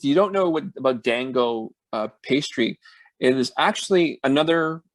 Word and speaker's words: Daan Go: We actually went to a place called Dan Go, and Dan is spelled DAAN, and Go Go. yeah, Um, 3 and the reason we locations, right?